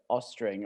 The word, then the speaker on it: Oestreng: I think it's Oestreng, or in Aus- Norwegian it's Oestreng, but we we have this Norwegian letter that's just randomly translated to O in English.